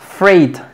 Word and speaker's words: freight: Y aquí tenemos freight, que es carga. Freight, GHT. Y tampoco suena la G.